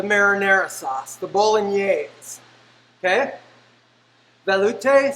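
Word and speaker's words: velouté: sauce the bolognese okay veloute some people pronounce it value so an interesting thing about valute is you take chicken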